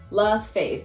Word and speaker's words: Lafave: to pronounce it because it is spelt nothing like it sounds it's french it's my husband's name love faith just just think that